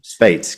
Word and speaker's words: Speight: It's like the number eight. Brilliant. Spate.